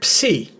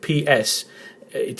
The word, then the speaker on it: psi: a word starts with ps, it's a different pronunciation. You don't pronounce the P. But when you see the letter psi in a Greek word, it's pronounced as ps.